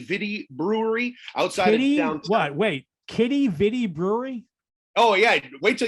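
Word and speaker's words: Quidi Vidi: john's called kitty vidi brewery outside what wait kitty vitti brewery oh yeah wait till you see how it's spelled q-u-i-d-i new word v-i-d-i kitty vitti don't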